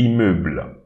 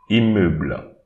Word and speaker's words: immeuble: Don't prononce it. I here, but instead we pronounce the BL, immeuble, immeuble.